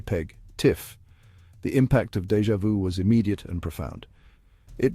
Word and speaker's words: DjVu: Enter DjVu pronounced déjà vu.